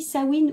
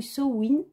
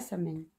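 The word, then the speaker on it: Samhain: la fête de sawin ça se dit sawin ou SN et ça s'écrit comme vous pouvez le voir ça s'écrit ça sa Meig mais on dit pas Sam m on dit SN ou sawin c'est comme au beau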